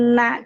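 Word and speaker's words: إنّ: Tapi huruf nun dan mim ini dibacanya n-nya ditahan dan degung ke hidung. Inna.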